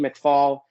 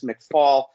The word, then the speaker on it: McFall: Always McFall, who I want to say McFall because that's really how it's pronounced, but I keep getting reminded that it's McFall, but it's still going to be McFall because I'm a New Yorker and that's the way we speak.